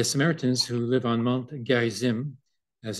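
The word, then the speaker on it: Gerizim: that uh the Samaritans who live on Mount Gary Zim as it's pronounced uh had a second temple there and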